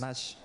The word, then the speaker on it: Natch: C'est Natch, il faut bien prononcer.